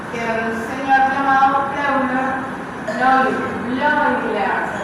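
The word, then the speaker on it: Bleuler: En ese artículo dice que un señor llamado Euler Bloiler se pronuncia. Este es como Freud. Freud tiene también la EU se pronuncia hoy, Freud, igual en Bloiler.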